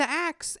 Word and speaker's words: Aix: it's tourist friendly yeah they call it axe by the way it's spelled aix on provence yeah and if you just say acts they know what you're talking about it has a totally